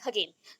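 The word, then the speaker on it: Hagen: ठीक है, हगेन and Thorndike के अकॉर्डिंग, दैट इज आप लोग अगर बोलना चाहो हेजेन भी बोल सकते हो, बट हेजेन इज not proper pronunciation of this word, तो दैट इज हगेन। तो आप लोग हेजेन बोल सकते हो या फिर हगेन भी बोल सकते हो, जो आपको अच्छा लगे, बट प्रोनाउंसिएशन में हगेन आएगा।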